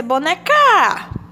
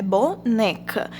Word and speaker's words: boneca: Mas a palavra boneca, que não tem acento, qual é a sílaba tônica? Vamos pronunciar boneca. Então, a gente já sabe que a sílaba tônica é o né.